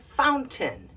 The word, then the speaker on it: fountain: we're practicing phonics but in these words we take the a i and we shorten it into a short i sound why i don't know so here is how they should be pronounced mountain certain curtain and fountain yeah all of them have a short i sound and not a long a sound and c right here